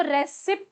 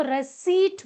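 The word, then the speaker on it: receipt: पहले तो स्पेलिंग है आर ई सी ई आई पी टी और जब हम प्रोनंसिएशन इसका करते हैं तो पी जो होता है वह साइलेंट हो जाता है।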